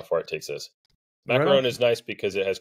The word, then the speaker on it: macaron: little bit about what's going on with the macaron macaroon first uh correct my pronunciation there yeah Ma macaron is good uh macaron is a a slightly